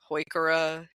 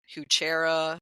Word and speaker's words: Heuchera: I'm sure you have, I've heard Heuchera, Heuchera, Heuchera, every which way. You hit the one that's my button. Yes. There is no chair in it.